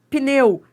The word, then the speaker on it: pneu: Adriana, esse p é mudo? Não, esse P não é mudo. Você tá pronunciando, ó. pneu.